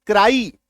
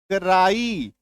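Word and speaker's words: cry: वाई सी आर वाई इसका उच्चारण क्या करते हैं? क्राई क्या उच्चारण करते हैं आप? क्राई यह उच्चारण करते हैं। क्या उच्चारण करते हैं? क्राई यानी कि आकार की मात्रा य।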